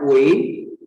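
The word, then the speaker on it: 喂: Yang I, nah kamu lihat yang itu dia bacanya Wei.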